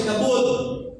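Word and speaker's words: כבוד: Pero kung i-pronounce niya mo is kabud.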